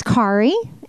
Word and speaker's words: Kari: But my name's Kari. Yes, it is Kari like Ferrari. It gets mispronounced a lot, so I like to tell people, Kari like Ferrari.